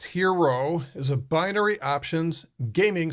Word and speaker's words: HXRO: tolerance you have so hxr oh it's pronounced hero as a binary options